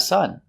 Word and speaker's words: son: So we say He has a son. His son is very cute. Let's talk about the sound. Like cup and up and cut. It's a short U.